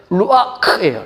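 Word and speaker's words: רוח: 근데 정확하게 발음하려면 루아크예요. 루아크. 제가 약간 코감기가 들려가지고 제대로 발음할 수 있어요. 거칠게 루아크.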